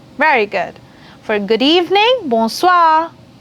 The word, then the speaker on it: bonsoir: Then for good evening, you have bonsoir.